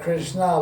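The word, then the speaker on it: Krishnaa: So she was called Krishna long a and she was being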